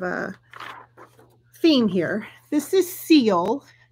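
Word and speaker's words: Sille: um kind of a theme here this is seal it's uh spelled s-i-l-l-e but it's pronounced so fortunately she did a pronunciation with the pattern it is called seal this is by petite knit and we will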